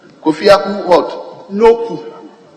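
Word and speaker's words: Nokoe: Right, Honorable Speaker, my name is Kofi Akun Noku. Kofi Akun what? Noku. Noku pronounced as in a U. Okay. N-O-K-O-E, but it's pronounced Noku.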